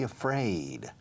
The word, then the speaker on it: afraid: To be afraid. Fijaos en la pronunciación. La primera letra del alfabeto inglés es A. A, B, C, A, B, C, A, afraid.